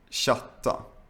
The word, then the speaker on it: chatta: in a few cases, when you see CH, you should also pronounce it like sh. For example, chatta, gruppchatt, chili, bachata, chips, Chile.